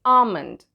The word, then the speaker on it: almond: For example, we say almond and not almond. We say doubt, not dubbed. So the B is silent in doubt and L is silent in almond.